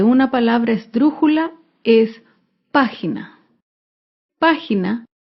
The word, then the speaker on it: página: palabra estrujula es página página se acentúa en la antepenúltima sílaba página recuerda todas las palabras